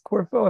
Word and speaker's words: Corfu: had another one from corpo corfo corfo it's corfo if I'm not mistaken as a Greek island if I'm not mistaken and this second district from corfo or was it how do you say it Corfu or food or food thank you or Foo